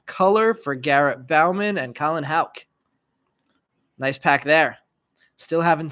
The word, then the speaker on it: Houck: Now that I've seen Colin play, I also know I was pronouncing his last name wrong. So Colin Houck, number 68 of 99, green paper.